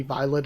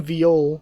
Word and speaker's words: Viole: We know that the name Viole, or Viole, was supposed to come from Violet. It's just the, like, sort of more French pronunciation where the T is silent.